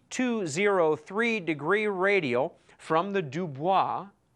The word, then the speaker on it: Dubois: Lake Idaho near the dubo V which is right up here du o i s du that's the French pronunciation I don't know why they don't call it du boys they don't call this